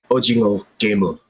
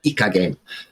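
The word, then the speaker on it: 오징어 게임: The Korean word for squid is ojingo. And that means that Squid Game is pronounced in Korean ojingo gemu. There you go. There you have it. Not Ika game.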